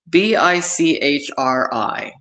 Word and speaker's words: Bichri: Bichri. Sounds like bitchy.